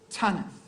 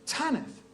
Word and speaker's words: Tanith: what's your name and she said Tanith I said pod she said Tanith not at all um